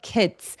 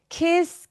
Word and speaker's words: kids: 그다음에 show the kids 할 때 kiss. Kiss라고 잘못하면들을 수도 있어요. 그래서 kids.